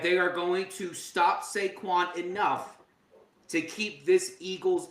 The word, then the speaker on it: Saquon: The Eagles will win the Super Bowl because of two syllables. Saquon.